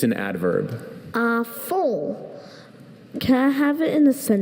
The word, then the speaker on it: à fond: À fond.